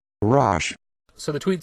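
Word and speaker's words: Roche: The new character's name, according to a video I found on YouTube, is pronounced Rosh. Rosh.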